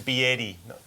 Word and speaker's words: BYD: This is Biedi, not BYD.